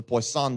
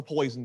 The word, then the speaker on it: Poisson: talk about today is the poisson distribution it's not the poison distribution this is a fancy french guy and you know the